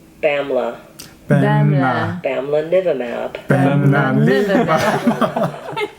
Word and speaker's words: bamlanivimab: Then add the first two syllables. Bamla. 뱀나. Bamlanivimab.